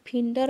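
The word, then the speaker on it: figure: নেটের বুননি তত ঢিলে ফিগার কথাটার ফরাসি উচ্চারণ ফিন্ডর অর্থ মুখের চেহারা ফরাসি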